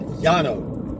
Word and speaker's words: Llano: In Spanish, you would pronounce that Llano, because two L's together are pronounced Y in Spanish.